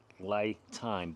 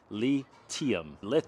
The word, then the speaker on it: LiTime: So when you read it, it looks like it's pronounced LITime, but it's actually a play on words. The correct pronunciation of the company is lithium.